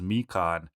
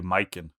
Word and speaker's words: Mikan: So it's clearly supposed to be the Japanese word for orange, which is Mikan, but all the voice actors just say Myken.